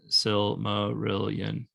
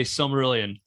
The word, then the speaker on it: Silmarillion: read challenge scripture like i thought silmarillion was five syllables the silmarillion i thought it was silmarillion well i'm speaking it american style here so okay we can just say silmarillion not an easy book